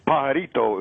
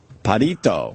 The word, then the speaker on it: pajarito: It's pajarito, it's called. Padito.